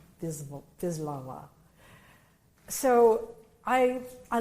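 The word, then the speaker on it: Wisława: a jorka v laa it looks looks like wislawa viwa so I I like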